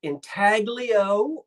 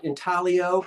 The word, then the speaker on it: intaglio: But there was a wonderful line called intaglio, or if you want to be picky about the G and pronounce it silent, that's intaglio, then you can pronounce then don't pronounce the G.